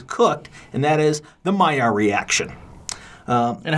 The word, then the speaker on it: Maillard: when bacon is cooked, and that is the Meyer reaction. And how do you spell that?